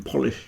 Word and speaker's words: Polish: thing to say so the first part is po not po so it's poish then you got I as a short one with a sh on the end but police you got